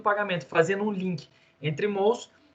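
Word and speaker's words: Mauss: Na época, eu nem sabia que o nome dele era Mous, que se pronunciava assim, depois que eu fui pesquisar que era francês, e aí eu vi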